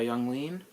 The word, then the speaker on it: Yung Lean: for Peoria it's going to be sponsored by Young lean just is how you pronounce this beverage from Pennsylvania little known fact